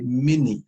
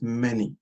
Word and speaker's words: many: with the word many, even though that is the right pronunciation, a lot of people say mini, as if they are saying mini, mini me, or mini something, M-I-N-I. But it is not, it is many.